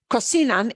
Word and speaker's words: cocinan: Cocinan ends in an N. Oh, vowel or N or S. Ooh, an N at the end, we punch the second to last. The way we pronounce that conjugation is cocinan.